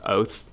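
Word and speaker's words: אות: word coincidentally it's pronounced oath it's ot but it's pronounced oath and it means it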